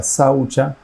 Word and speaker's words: saucha: algunas observancias Como por ejemplo en sánscrito se pronuncia saucha que tiene que ver con el orden y